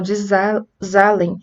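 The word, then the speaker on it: Zahlen: não é z pessoal desalen eu acho que assim se pronuncia é uma palavra alemã que significa número tá então você vem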